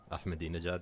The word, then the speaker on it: Ahmadinejad: Ahmadinejad. Yeah, thank you for pronouncing that properly.